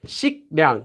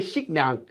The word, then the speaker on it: 식량: And again, this letter will become pronounced like this. So if you have this, 식량, 식량. How could you say 식량, 식량?